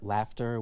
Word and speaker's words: laughter: You have words like um womb which rhymes with room but not with comb or laughter which rhymes with after but not with daughter.